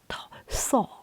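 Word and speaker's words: Thoth: Some pronounce it thor and I think in English translation or or in English way um it is thor but uh I doubt if there is a th sound in Egypt.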